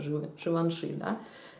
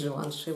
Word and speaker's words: Givenchy: еще Джентльмен от Givenchy или как он считается произносится Живанши и тоже достаточно приятный обычный такой маленький пробник Ну Givenchy он есть Живанши Вот вот так вот